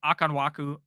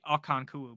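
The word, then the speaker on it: Okonkwo: night for ham um pronunciation of akanwaku akanku no I think his name is actually akanku but I just pronounced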